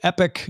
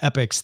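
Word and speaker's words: Epix: Also, I think I must have accidentally said Epic instead of Epics, the Epics streaming service.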